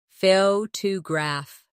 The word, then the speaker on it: photograph: Now, photograph. The stress is on the first syllable, photograph. Good.